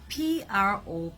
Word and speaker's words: prophecy: P-R-O-P-H-E-C-Y is pronounced as prophecy, and P-R-O-P-H-E-S-Y is pronounced as prophesy. So don't get it mixed up.